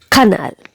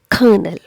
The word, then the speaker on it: colonel: next word is this how do you pronounce it colleague that's again incorrect incision the correct pronunciation is colleague colleague and again the stress is given on the first syllable colleague the next word